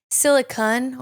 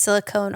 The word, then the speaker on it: silicon: 1, silicone or silicon, not an E at the end. So sometimes people say it's silicone also, but there's no E at the end. So I say it like silicon, silicone, silicon, something like that.